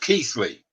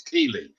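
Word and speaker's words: Keighley: wife's maiden name she's from Bradford it's actually pronounced Keithley keepers Alec right well everybody who doesn't know it says it's Keely and it looks like he'll present easily well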